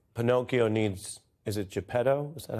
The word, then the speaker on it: Geppetto: Well, now it's getting deep, Che, because it's sort of like Pinocchio needs, is it Geppetto? Is that how it's pronounced? Yes, Geppetto is his fault.